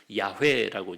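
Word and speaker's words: 야훼: 여호와를 야회라고 이제 발음을 하는 겁니다.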